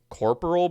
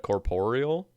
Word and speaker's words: corporeal: There was just a Reddit post like last week talking about how people say I think they say corporal beast instead of corporeal.